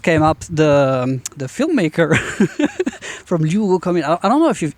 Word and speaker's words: Luogo Comune: So to my right, I have Luogo Comune. Did I pronounce that correctly? Yeah. Pretty much.